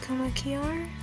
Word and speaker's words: komakiar: Instagram and Gmail to komakiar, that's how you pronounce it.